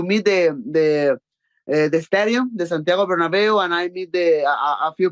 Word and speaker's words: Bernabeu: It's, yes, the Bernabeu, right? How do you pronounce it?